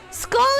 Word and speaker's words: skull: but a little bit skull is pronounced more like a oh well school is very much like a u sound that said they are